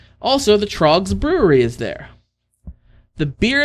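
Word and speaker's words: Tröegs: It is Trogs, which we've had Trogs on the show show before. It is spelled T R O E G-S.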